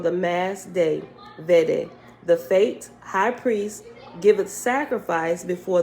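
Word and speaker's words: Fete: this one by now is fate but it's spelled f-e-t-e fate sign of sanctification Panic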